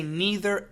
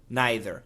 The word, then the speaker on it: neither: Nei t h r we can say neither and neither both are absolutely fine let's continue that sentence